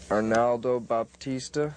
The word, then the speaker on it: Arnaldo Baptista: Arnaldo Baptista, is that how you pronounce his name?